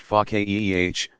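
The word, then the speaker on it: فقيه: understanding such a scholar is pakya pronounced FACA eeh one who understands deeply because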